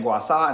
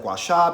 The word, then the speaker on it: gua sha: Yes, I am saying Gua Sha instead of Gua Sha because that's just how it's pronounced, but if anybody gives